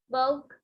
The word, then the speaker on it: bought: My aunt bought a mirror. She bought it in the uncle shop. Oke, bacanya and kayak semut. My and, yang ini GH-nya silent, langsung ke T.